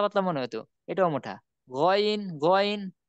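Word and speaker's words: غين: গইন গইন, গইন কিন্তু আমরা বলি না, গাইন বলি না।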